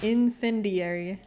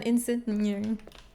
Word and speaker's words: incendiary: Cuz I was saying I always struggled pronouncing that word, but now I don't cuz everyone reaffirmed it. It's incendiary.